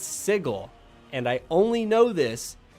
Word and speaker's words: sigil: It's pronounced sigil. It's pronounced sigil in D&D. The way that word is spelled, it should be sigil. But for some stupid reason, it's sigil.